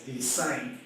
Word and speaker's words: Desaine: to know is that when the last name is pronounced as they signed this night oh wow